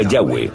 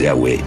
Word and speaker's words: Yahweh: Pensamos que probablemente se pronunciaba Yahweh o algo así.